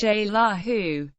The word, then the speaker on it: Xelajú: especially the indigenous population continue to call the city zaju pronounced shaa who or more commonly zela